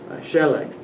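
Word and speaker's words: שלג: Like there are some nouns that the accent occurs on the first syllable, sheleg, a word for snow.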